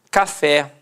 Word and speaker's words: café: de fato em a café repare que a sílaba tônica é a última e é terminada em é Cipó repare que a